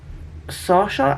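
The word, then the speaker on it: Saoirse: misty remote shores of Sawshore Island. I think that's how you say it. It's pronounced... I think that's how you pronounce it. It's spelled S-A-O-I-R-S-E, and I'm sure that's Sawshore.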